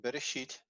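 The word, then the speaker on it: בראשית: So it's be, re, and the aleph is part of this syllable, sheet.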